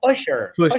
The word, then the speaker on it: Pusha: See, you said his name wrong. You said Pusher with an ER. See what I'm saying? Yeah, there you go. Pusher. Oh man, I'm always ER in it. I'm always hard R in it.